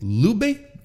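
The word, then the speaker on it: Leube: ishi and Oscar loiber is it Lube I think that's how that's how Kevin Kelly pronounces it but I feel like it's not exactly the per the proper German Way l e u b e I'm gonna have to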